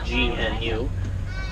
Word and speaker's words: gnu: They're also sometimes referred to as a gnu, which is spelled G-N-U, meaning that the sound they tend to make. Their grunts will sound like they are saying gnu.